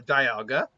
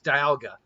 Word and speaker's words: Dialga: You have either Dialga, oh jeez. It's Diamond and Algia, I think. So it's Dialga.